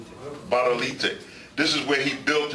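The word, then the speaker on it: Gbadolite: We went to his hometown, if I'm saying it right, Golobolito. How do you say it? Badolite.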